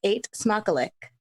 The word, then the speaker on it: eet smakelijk: But it's eet smakelijk. Eet smakelijk. Like ate as in I ate something. That's how you can pronounce it. Eet smakelijk. Smock, like you're wearing a smock. Elik. Eet smakelijk.